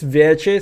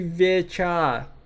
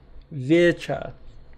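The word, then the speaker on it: Вече: But like this Veche thing, that is like so fucking... It's supposed to be Vecha. Vecha.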